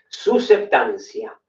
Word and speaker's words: susceptancia: Susceptancia. Se escribe, empieza con S y tenés la P en el medio, que a mí me gusta no obviarla como septiembre.